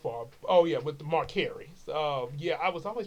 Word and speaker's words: Mercari: So anyway, Marcari, that's the way it's pronounced according to what I looked up, Mercari or Mercari.